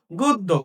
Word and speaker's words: গদ্য: এবার এখানে এসে তুমি কি বলেছিলা যে উচ্চারিত রূপে ব্যঞ্জন বর্ণের সাথে জফলা যুক্ত থাকলে যে বর্ণের সাথে জফলা যুক্ত ওই বর্ণের উচ্চারণ হয় দুইবার। তাহলে এখানে আমার কি রয়েছে, দ।